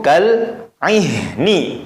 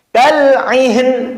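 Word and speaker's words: كَالْعِهْن: Watakunul jibalu kal ihni, maka bacanya Wa takunul jibalu kal'ih. Nah, tidak boleh aihen, tidak boleh. Kal'ihin, tidak boleh. Maka haknya tetap ada suara sisa.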